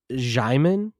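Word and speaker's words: Djimon: You don't pronounce the D. I think it's Jiman.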